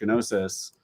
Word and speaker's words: Gnosis: the multi-site okay yeah so you pronounce the g okay sorry yeah you threw me off oh no noses i don't know i